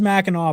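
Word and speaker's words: Mackinac: Machin, it's pronounced Meno, but it is spelled Minak.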